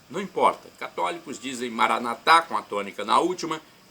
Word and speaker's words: Maranata: os evangélicos ou protestantes Maranata com a tônica na penúltima sílaba não importa católicos dizem Maranata com a tônica na